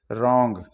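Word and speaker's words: wrong: आर से पहले डब्लू आता है तो डब्लू साइलेंट हो जाता है जैसे डब्लू आर ओ एन जी रंग यहां पर आर से पहले डब्लू आ रहा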